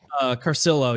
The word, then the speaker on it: Carcillo: How do you pronounce his name? Cicerelli? Carcillo, yeah, he played for the 2010 Hawks, but I don't know how much he actually played for him.